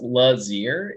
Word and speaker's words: Lazier: My last name is pronounced Lazier. It rhymes with ear because ear is in the name.